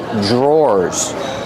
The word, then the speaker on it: drawers: These are called drawers. The pronunciation is not like the spelling. Pronunciation dr makes a J sound. J plus the R together. J. Drawers. Or like door and floor. Drawer.